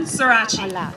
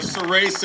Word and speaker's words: Surace: I'd like to introduce to all of you Kevin Surace. I got the Italian pronunciation today, or Surace in American.